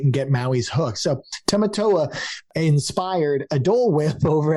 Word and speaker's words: Tamatoa: Uh Tamatoa.